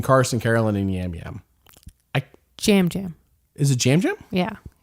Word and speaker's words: Yam Yam: Jam Jam. Is it Jam Jam? Yeah. My apologies. Spelled with a Y, but it's pronounced with a J.